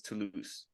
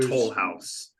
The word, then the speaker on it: Toulouse: I'm curious to hear how they pronounced it, because how I would pronounce this is Toulouse. Yes, they called it Toll House, like the American, like the cookie, like the cookie.